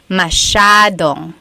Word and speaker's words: masyadong: So the S-Y-A is a sha sound. Masyadong.